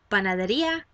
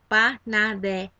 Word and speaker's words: panadería: So the next word is bakery, la panadería, la panadería. I kind of add that little jump just so that you can associate that is the syllable emphasis.